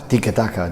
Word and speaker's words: tiki-taka: Where did the phrase come from, and how do you pronounce it properly? Tiki-taka, that's something like this.